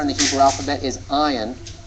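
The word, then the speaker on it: ע: the Hebrew alphabet is Ion and it's one of those silent letters it's like all if it's silent we'll we'll tell you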